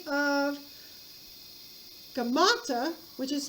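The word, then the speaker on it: Gaumata: So a look-alike of Smerdis's by the name of Gamata, which is spelled G-A-U-M-A-T-A, G-A-U-M-A-T-A, Gamata actually takes the throne, pretending to be Smerdis.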